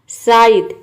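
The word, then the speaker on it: scythe: साइद इसको हम pronounce करेंगे साइद। एस सी को स प्रोनाउंस करेंगे और वाई लग गया है तो ये साई हो गया और टी एच हो गया द, ये साइलेंट है, ये हो गया साइद।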